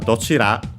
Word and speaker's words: どちら: For dochira and dochi, is the rule prevails for both. And so it's accented on the first syllable. Dochira, dochi.